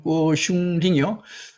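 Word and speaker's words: 郭松齡: 이렇게 해서 또 하나의 그 선생이 등장하는데 이 꼬슝링, 곽송령인데 각송인데 중국 발음으로는 꼬슝링이요.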